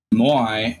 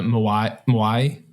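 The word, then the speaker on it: 模合: I think one thing about the Moai, we're not going to say it right. Moai. Say it with the Japanese accent.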